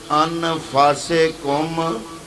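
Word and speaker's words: أنفسكم: تو علماء نے فرمایا یہ تو ہم نے سمجھا کہ من انفسکم، فے پر پیش پڑی، سین کے نیچے زیر پڑی، یہ ہم نے لگائیں زبریں زیریں، لیکن ہو سکتا ہے اس کا دوسرا تلفظ ہو، اور وہ کیا ہے؟ من انفسکم، فے پر پیش کی بجائے ہو سکتا ہے زبر ہو، کیونکہ رب نے زبریں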